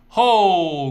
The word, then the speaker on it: 后: 后 going down. Going down, so 后. So we learned 天 is the day, right? So 今天 today. 明天 tomorrow. 后天 the day after tomorrow.